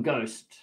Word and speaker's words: ghost: En la H muda, exactamente, en el ghost.